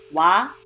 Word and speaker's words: 와: O and A will make 와.